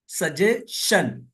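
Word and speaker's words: suggestion: national कौमी mention तरा अगर किसी वर्ड में एस के बाद टी आई ओ एन आए या किसी वर्ड में टी के बाद एस यू आर ई आए तो टी का तल चा होगा इसको न में रखे ए भी जो है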